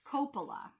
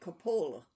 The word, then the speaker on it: Coppola: The first announcement we have is Vince Coppola. Yes, Vince. I think I knew somebody by that name, and they pronounce it Coppola.